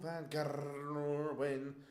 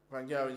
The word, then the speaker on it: van Gerwen: Oh, Michael van Gerwen. Got to roll your R's in the Gerwen.